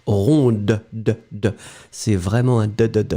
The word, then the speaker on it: ronde: You will only pronounce it when you put the feminine form, so you add this in the end, and then you will pronounce ronde.